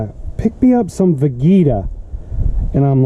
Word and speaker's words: Vegeta: People pronounce it as Vegeta.